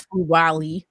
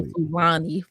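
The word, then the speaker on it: Fulwiley: say her name help me out uh Malaysia Fu W yes Fu W I always want to say fuani flu W um I think she's a fantastic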